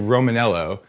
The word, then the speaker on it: Romaniello: just called you romanello but there's an eye in there that I never noticed am I have I been saying your name wrong this entire time and just being like a dick no we we we don't use the eye the eye is it's a silent eye I assume I assume